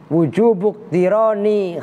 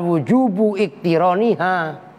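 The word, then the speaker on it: وجوب اقتران: Wujubuk tironi khobariha. Itu bacanya begitu, wujubuk. Karena hamzahnya iktiron itu hamzah wasol. Jangan wujubu iktironiha, salah.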